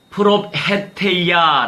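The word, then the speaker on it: προφητεία: 말씀이라고 말씀을 하셨잖아요 자 이 예언은 요 프로페 테이야 라고 발음합니다 자 뜻을 알아야 되겠죠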